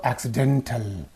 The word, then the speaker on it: accident: syllable you say accident when it is used as an adjective you say accidental accident accidental accidentally in